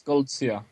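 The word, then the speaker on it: Goldziher: How do you pronounce? Tzortzis.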